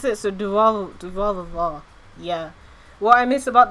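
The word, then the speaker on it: Durarara!!: You could also say but yeah, that is how you pronounce it. So Durarava.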